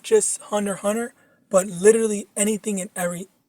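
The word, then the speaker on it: Hunter × Hunter: Okay, so I don't know if you've heard of this, but there's this anime called Hunter Hunter, but it's spelled out Hunter X Hunter.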